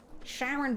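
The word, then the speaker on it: Charon: Sharon by the Moon of Pluto is pronounced that way.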